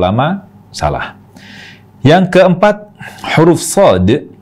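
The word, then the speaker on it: صاد: yang keempat huruf Shad huruf Shad itu sebenarnya berakhiran dengan huruf Dal jadi salah juga kalau kita membacanya dengan huruf akhir ta jadi kalau kita baca Shad seperti itu berarti kita mengubah huruf terakhir dari Shad yang harusnya huruf Dal ini terubah menjadi ta jadi Shad itu salah juga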